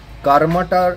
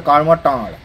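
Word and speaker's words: কার্মাটাঁড়: থেকে আমরা জানতে পারি কারমাটার একচুয়ালি আমাদের বাঙালি উচ্চারণ আসল উচ্চারণটা কার্মা টান অর্থাৎ কারমা হচ্ছে একটি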